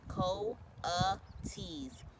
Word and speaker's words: coatis: These are coatis, Miss Brisbane said, reading from a letter pronounced co-a-tees.